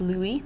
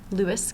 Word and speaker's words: Louis: And some key examples that you'll hear about are Louis XIV, and it is pronounced Louis, not Louis, because it's French.